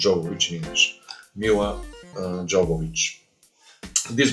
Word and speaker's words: Jovovich: I'm talking about Ultraviolet, 2006 movie with my favorite Milla Jovovich. Yeah. Actually, Jovovich in English, but because she's Ukrainian, in Ukraine they're gonna call her Jovovich, and in Bulgaria also Jovovich.